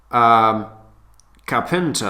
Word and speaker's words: carpenter: As you can see, carpenter or carpenter, the main stress is on the very first syllable.